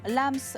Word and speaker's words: Lams: pas demandé hors caméra on dit bien Lams exactement oui vous savez c'est comme